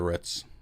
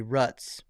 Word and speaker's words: roots: get down to the roots yep the where Ritz I have not watered any ruts I didn't say rut I said rhymes with foot Roots yeah is that like